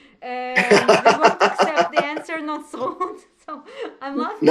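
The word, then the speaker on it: נצרות: Notzrut. We don't see the O, but it's there. Notzrut.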